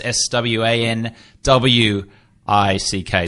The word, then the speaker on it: Swanwick: and at Swannack ji mes SWA n w IC K Swanwick is the spelling is the pronunciation if you have questions